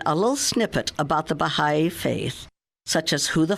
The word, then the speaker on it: Bahá'í: The word Bahá'í means follower of the glory. Bahá means glory or splendor. The I, pronounced E, means follower of.